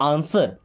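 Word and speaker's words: answer: आंसर मी, दोस्तों इसको आंसर नहीं पढ़ते, यहाँ पे डब्ल्यू साइलेंट होता है, क्या बोलते हैं आंसर।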